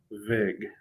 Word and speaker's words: vig: It rhymes with big. Vig.